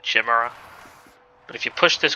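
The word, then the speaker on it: chimera: So, here's where we're going to see our first kamar, which I think that's how you say it. I think as a kid I always called it a chimra.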